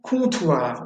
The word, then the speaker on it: comptoir: ON, comme dans le verbe ballon, ballon, et OM, comme dans comptoir. Le comptoir, c'est l'endroit où on va pour commander son verre, où il y a un serveur qui va vous servir la bière. Comptoir, ballon.